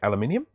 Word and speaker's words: aluminium: up here aluminium yeah so we say aluminium you stick another syllable in there because you know why not okay all right so